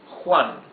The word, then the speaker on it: Juan: Okay, so for example, the name Juan here, J-U-A-N. Letter J, or J, is not like the English H, the soft sound, smooth. No, it's a rougher sound.